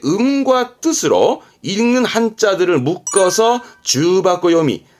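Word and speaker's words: 重箱: 여러모로 쓰긴 합니다만 지금은 중복의 중자 그든 그래서 발음은 주 바고 주 바고 주 박고는 이거예요 그 벤또 있죠 도시락 차압요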